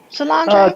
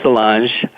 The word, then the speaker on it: Solange: All right, did I pronounce her name right? Solange? Close, Solange.